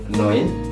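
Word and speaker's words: neun: jadi Ko Jadi oke angka 9 itu Noin Noin ada EU di situ Jadi dibacanya o i Noin betul angka 10 itu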